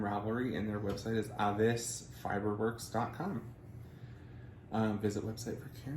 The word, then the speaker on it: Aves: amazing dyer on instagram as avis spelt um in the anglo-way a-v-e-s or aves fiber the american way works so avis fiberworks